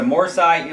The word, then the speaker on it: Morsi: by islamist President Mohammad Mory or Morsi I think it's pronounced has taken over the